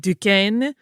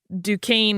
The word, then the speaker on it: Duquesne: in his life yeah if you hear someone who is a French speaker pronounce it particularly the way his parents spelled it it will be more like Duquesne uh where that a